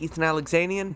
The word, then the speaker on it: Ethan Alexanian: I'm your host, Ethan Alexanian.